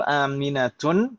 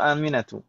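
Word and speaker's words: أمينةُ: Tadi saya ini yang betul Aminatun atau Aminatu? Aminatu. Fatimatun atau Fatimatu? Fatimatu. Su'adun atau Su'adu? Su'adu. Limadha? Karena dia mamnu' min ash-sharif.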